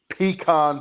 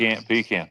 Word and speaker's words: pecan: you'll The southern delicacy, peacon pie, right, Kyle. Pecan pecan. Pecan pie. You said it right the first time.